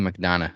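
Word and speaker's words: McDonagh: So it's like a silent G. It's very Irish. JD McDonough.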